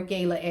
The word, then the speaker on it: gala: Autumn has notes of bright red gala apple or gayla apple, however you prefer to pronounce it.